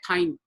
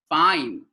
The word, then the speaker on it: fine: A lot of people say pine. Pine? No pine. Fine.